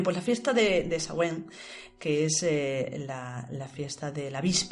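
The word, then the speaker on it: Samhain: eh eh que era la fiesta Celta de shawen se escribe shain pero se pronuncia más o menos shen como ya nos pasado otra vez disculpad nuestras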